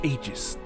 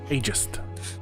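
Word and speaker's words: Aegis: you my name is AIS what wait there your name is AIS aist like I think that's how you pronounce it properly oh okay yeah I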